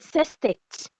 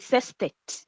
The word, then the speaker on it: sestet: Some people call it sestet, but it's sestet. Sestet. Some people call it sestet, but it's sestet.